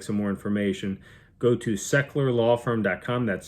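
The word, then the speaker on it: Sechler: now quick plug for the law firm the secular law firm is your family's partner in all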